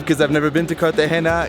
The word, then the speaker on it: Cartagena: the hair now it's very important with the pronunciation kata Hema yeah is it G in there but but it's okay so hey how you doing but I'm excited because I've never been to cut the Hana it's on the coast so this is my